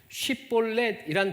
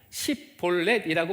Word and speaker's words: 쉽볼렛: 어떤 사람이 지나가게 되면 에브라임 사람인지 아닌지 구분하기 위해서 쉽볼렛이란 발음을 하도록 시켰습니다. 이때 쉽볼렛이라고 발음하지 못하고 십볼렛이라고 발음하면 에브라임 사람인 줄 알고 죽였습니다.